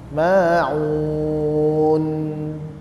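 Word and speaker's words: الماعون: tapi enggak dengar kita jadi memang akhir itu harus ditegaskan ada huruf di situ jadi memang harus kita baca wamnaunal Maun ya nunnya terakhir di dijelaskan jangan sampai Maun Maun nunnya lebih jelas wamnaal Maun ya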